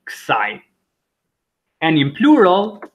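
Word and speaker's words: kësaj: Kti, masculine, ksai, feminine, or pronunciation, kti, ksai, or just kti, ksai.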